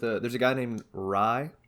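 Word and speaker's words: Rhye: there's a guy named ry like the like the bread but it's spelled r-h-y-u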